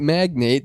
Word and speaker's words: magnate: A Texas real estate magnate? Does he just attract houses? What is going on? Are you with pronouncing this man? magnet wrong? No, MAGNATE, magnate.